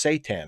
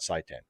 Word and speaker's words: seitan: correcting my pronunciation garrett it's seitan apparently not saitan whatever seitan could it be